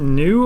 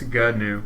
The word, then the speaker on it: GNU: I think it's new cache, but anyways, it's GNUCASH, new cache, and the idea here is 2 syllables. GNU.